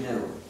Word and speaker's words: GNU: Please pronounce it GNU. If you pronounce it new, you'll get people confused.